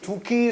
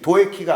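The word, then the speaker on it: Doekhi: 두키 선수가 5-2 스펠인데 로날드 쿠만처럼 우 발음이 되는 거죠? 예. 두키, 도에키가 아니고 예.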